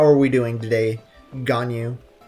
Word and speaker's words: Ganyu: How are we doing today, Ganyu? Pronounced how it's spelled? Yes.